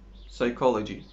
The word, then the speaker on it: psychology: p n you have it silent what p is silent in English no it is psychology pneumatic let's say the longest word in English